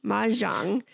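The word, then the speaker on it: mahjong: Her father asked her to join this group of friends and they played ma manang. How do you say it? Maang Mang. Yes, ma Jang.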